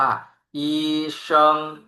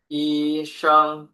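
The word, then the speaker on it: 医生: เดิม 2 คำ รวม กัน ครับ อ่าน ว่า อีชิง อีชิง แปล ว่า คุณ หมอ หรือ แพทย์ นะ ครับ อ่า วิธี การ เขียน ก็ โชว์ ไว้ ให้ ดู แล้ว นะ ครับ อีชิง แปล ว่า คุณ หมอ เรา มา ดู ตัว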